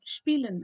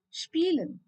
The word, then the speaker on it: spielen: So I have spielen as the example here. Spielen means to play. And so I don't pronounce it as spielen, but then spielen.